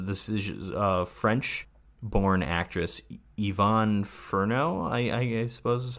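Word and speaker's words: Yvonne Furneaux: then um the decisions uh French born actress Yvonne Ferno I I suppose that's how you'd pronounce that right yes yeah still alive at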